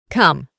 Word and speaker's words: come: De nuevo, la E del final no se pronuncia y reemplazamos la O con una A. Come.